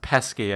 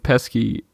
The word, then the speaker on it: Pesci: Pesci looking at him I think it's pronounced pesky I think you should